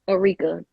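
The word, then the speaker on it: Ericka: you spell it it's my name is just like Erica though it's not like Erica that's why I'm like I don't people e-r-i-c-k-a okay so I'm like no it's just pronounce Eureka I'm like maybe I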